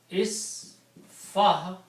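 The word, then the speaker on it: اصفح: this, it will be isfah. Okay? Isfah is the command to one person. Okay? Isfah, you put an alif in the beginning with the kasra, and you pronounce this isfah.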